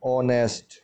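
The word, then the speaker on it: honest: ऑनेस्ट में H silent letter है, एच को नहीं पढ़ेंगे तो ये होगा ऑनेस्ट।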